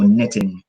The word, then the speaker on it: knitting: or adrenaline knitting and remember the K is silent any words that begin with k n the K is usually silent so we just use the second letter which is and so knitting so which one is